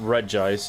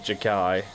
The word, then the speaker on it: Regice: It's not REGICE, it's Jakai.